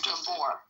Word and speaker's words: Gabor: Is that how you pronounce it? Tell me the truth. It's Gabor.